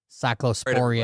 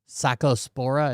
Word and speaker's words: Cyclospora: This has ties to the fucking raw milk cyclosporia outbreak or whatever. Very, very weird. We do Cyclospora is how you say it.